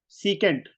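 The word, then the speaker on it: secant: 1 का whole square, इसको सेक ना बोला करो, सीकेंट को सेक नहीं बोलना, कॉसिकेंट। अंडरस्टूड? इसको आगे से क्या बोल रहा है माशा? सीकेंट। हाँ, सीकेंट बोलना है हमेशा। वो प्रोनाउंसिएशन गलत है, लिखने में सीकेंट होता है बट सेक होता है, बट बोलने में हमेशा सीकेंट बोलना है उसको।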